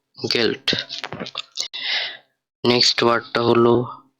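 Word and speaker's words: Geld: Next ওয়ার্ডটা গে দিয়ে, এখানে লেখা গেল্ড, গেল্ড অর্থ মানি বা টাকা। তো এটা উচ্চারণ হবে গে, এ, এল, ডে, গেল্ড।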